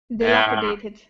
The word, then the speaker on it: dilapidated: help you deit dilapitated dilapidated yeah that's it dilapidated uh okay yeah the second syllable stress dilapidated yeah all right dilapitated